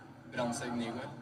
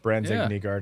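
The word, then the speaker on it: Brandsegg-Nygård: Brandsegg-Nygard. Okay, well, That's not bad. Our English version of it's pretty much bang on. Brandsegg-Nygard is not terrible.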